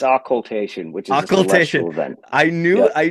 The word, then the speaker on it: occultation: some people think it's occultation some people think it's occulation of them are wrong though yeah it's it's